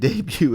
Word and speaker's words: debut: And then my favorite three, the T and debut is silent.